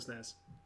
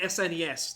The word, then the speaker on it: SNES: super mario world for the snares or the snes depending on how you pronounce it all right i've